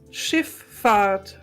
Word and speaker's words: Schifffahrt: So the next word is Schifffahrt. Wow. Like And you fart? can spell it like shift without a T. Oh. And the word Fahrt like the air that comes from your backyard.